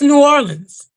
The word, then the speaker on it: New Orleans: It ain't Nolans. It ain't New Orleans. It's New Orleans. It just flows off the tongue real easy.